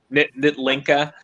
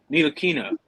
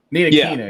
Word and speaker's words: Ntilikina: Yeah, Nitlinka.